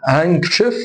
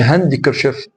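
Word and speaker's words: handkerchief: في برضو كلمه زي هانكشيف، ما اقولش هاندكرشيف اللي هو المنديل. هانكشيف. هانكشيف. هانكشيف. تمام.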